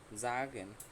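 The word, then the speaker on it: sagen: জাগেন, আমি যেটা বলছিলাম যে এস যদি বাক্যের প্রথমে বসে এবং তারপরের ওয়ার্ড যদি ভাওয়েল হয় তাহলে এসের উচ্চারণ কী হবে, জয়ের মতো। তাহলে এখানে কি হলো, যা, আর এটা হচ্ছে গেন, ঠিক আছে, জাগেন, জাগেন অর্থ বলা।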